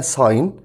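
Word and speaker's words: sign: ويوقع ده فعل معناه ساين تاني ساين خلي بالك حرف الجي هنا سايلنت بتقول ساين يعني يوقع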